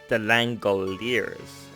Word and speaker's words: The Langoliers: The Langoliers. Okay. That's how you pronounce This is it.